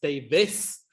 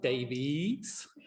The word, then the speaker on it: Davies: And uh my surname is pronounced Davis, not Davies.